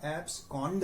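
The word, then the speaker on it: abscond: तो उच्चारण पर ध्यान मत दीजिए, उच्चारण इसका एब्सकॉन्ड है, लेकिन याद करने के लिए इस वर्ड को COND को आप कांड ही पढ़ लें हिंदी वाला, तो आपको मीनिंग याद हो जाएगी।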